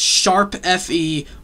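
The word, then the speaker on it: ♯FE: Tokyo Mirage sessions Fe no it's sharp F yeah so I gotta say the title right sessions sharp Fe encore I'm not kidding guys you pronounce the the sharp symbol as sharp but uh well is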